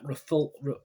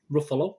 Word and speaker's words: Ruffalo: and mark levine it stars ryan reynolds mark rafal ruffalo ruffalo that's how pronounces it jennifer garner walker scabell catherine kina